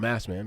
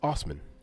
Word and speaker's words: Osman: When Assman, actually, guys, I'm going to continue to call him Assman because that's the way it's spelled. Right. But it's Osman.